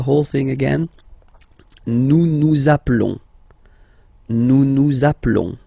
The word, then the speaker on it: nous appelons: Nous appelons. Okay, final S doesn't exist.